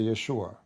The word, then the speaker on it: Yeshua: a note uh and the correct way to say the word actually to say Yeshua Yeshua or Yeshua not even Jesus in English so lu the likeness of Jesus with Allah as his likeness of Adam.